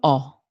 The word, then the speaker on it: ho: Remember, in Italian we don't pronounce the H, so it is not io ho, but it's also io ho. The O is open, ok?